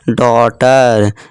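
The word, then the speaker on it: daughter: रखना है इस तरह देखिए डॉटर यू जीी एच देखिए दोस्तों ये सब क्या है साइलेंट है ठीक है दोस्तों डॉटर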